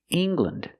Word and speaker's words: England: Now, when you see L-A-N-D at the end of a country, it's usually always pronounced land. For example, England, Ireland, Scotland. Use the short sound, lind.